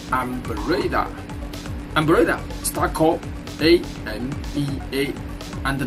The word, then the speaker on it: Ambarella: It's Ambarella.